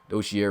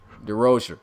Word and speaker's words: DeRocher: And you can see Coach Dozier right there. I said it wrong again? DeRocher. Okay, Coach DeRocher.